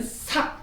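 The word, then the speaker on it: 數: 임금군자 사군, 임금을 섬김에 요걸 숫자 할 때 수라고 읽으면 안 돼요. 수학할 때 수라고 읽지만 자주라는 부사로 쓸 때는 삭 이렇게 합니다. 삭.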